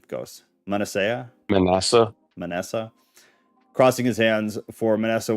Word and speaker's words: Manasseh: Manasseh.